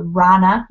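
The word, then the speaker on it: Rhonna: So number 1, I use an app called Rana Designs. It's spelled R-H-O-N-N-A Designs.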